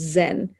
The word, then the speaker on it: Zen: to japan through china the chinese chan becomes japanese zhan which eventually becomes zen isn't that fun to